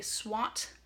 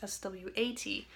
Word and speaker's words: SWOT: So let's start out with, how do you say this? It's called a SWOT analysis. Not the kind that you brush away like swatting flies, that's SWAT.